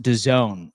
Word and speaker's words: DAZN: Dazen is pronounced DAZN.